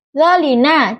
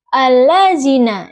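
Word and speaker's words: الذين: atas dengan getaran dza kesalahan yang sering terjadi seperti pengucapan dza yaitu itu d lebih ke depan sehingga terdengar seperti dalina. Contoh baca yang benar allazina dengan dza yang jelas.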